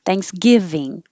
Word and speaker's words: Thanksgiving: oops alone alone and thanksgiving the stress is on the give that's nice isn't it thanksgiving and this year it's